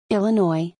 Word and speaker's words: Illinois: Attention, ça c'est avec l'accent français parce qu'en américain, il faudrait dire How to pronounce Illinois. Illinois, Illinois.